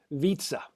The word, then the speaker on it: Vietze: featured guest is dimitri vitsa yes it rhymes with pizza born in nashville dimitri